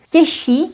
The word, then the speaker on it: těžší: Těžší means heavier, and because sh is voiceless, ž is voiced. Sh influences ž. We end up with double sh. Těžší. Although here we don't pronounce double sh, we simply say těžší.